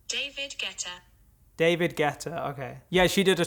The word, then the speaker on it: David Guetta: how do you say david greta's name guetta pronunciation david guetta david guetta okay yeah she did a track with david